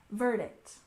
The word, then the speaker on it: verdict: and next we have verdict we stress the first syllable verdict verdict this is the decision